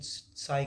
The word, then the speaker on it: chi: नहीं साई होता है, ये CHI लिखते हैं, प्रोनाउंसिएशन साई करते हैं, CHI ये होता है।